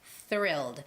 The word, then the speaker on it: thrilled: s it's not it's thrilled you have to stick out your tongue like my what i'm